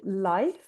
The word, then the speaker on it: Leif: Um so the pro- probably would pronounce it Leif.